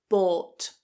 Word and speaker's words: bought: So try not to look at that "ou" in "bought" and think "oh it's ou". It's not, it's a long /ɔː/ vowel. The same vowel that's in law, for, door, court, etc. Keep it a long vowel.= Bou, bought.